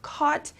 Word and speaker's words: caught: all right caught uh this is another ght one so it's pronounced caught it is the simple